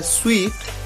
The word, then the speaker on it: suite: दूसरा word SUITE, इसे pronounce किया जाता है स्वीट, और इसका मतलब होता है होटल में कमरों का सेट।